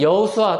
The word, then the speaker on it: 여호수아: 히브리어 발음으로는 여호수아 또는 예수아 이렇게 발음을 하는 그런 이름이었습니다. 예수님이 오신 이후로, 그런데 특히 예수님이 십자가에서 달리신 이후로 그 이름을 현저하게 사용하는 사람들이 현저하게 줄어들었습니다.